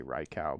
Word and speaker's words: Raikou: Sounds so wrong to say Raikou, but I've heard that's the correct pronunciation, so we'll go with it.